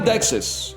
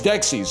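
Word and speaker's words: Dexys Midnight Runners: Discover this like a very By the way, it is not Dexus. It's Dexis.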